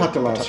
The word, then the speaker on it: Patalas: With this process, there was a 30-year sequence of time in which people like Patalas, am I pronouncing that correctly? Patalas, yeah.